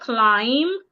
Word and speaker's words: climb: In the word climb, the B is silent.